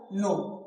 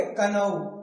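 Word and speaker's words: know: नो। क्योंकि यहां के साइलेंट। अब जिसे नहीं पता है तो वो क्या पढ़ेगा? कनऊ।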